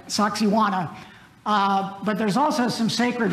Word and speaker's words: Sacsayhuamán: It's Sacsayhuamán. Thank you. Thank you. Yeah, Jennifer's been there. Right, Sacsayhuamán.